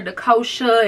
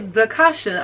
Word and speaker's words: D'Khosha: pronounce her name Quick people try to call her the kosha and stuff like that oh no baby she gonna check you she gonna tell you exactly what her name is and how it's pronounced so yes zakasha I